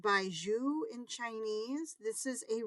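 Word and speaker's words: 白术: These are white atractylodes, pronounced baiju in Chinese.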